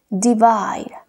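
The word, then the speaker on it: divide: múltiple multiplicar múltiples múltiple de baile de baile de baile dividir recuerda que la he al final no tiene sonido por tanto en vez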